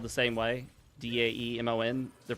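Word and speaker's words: daemon: I know when it comes to the Linux kernel components that are spelled the same way, D- A M O N, they're pronounced Damon, but I think that's mainly to uh avoid offending Christians.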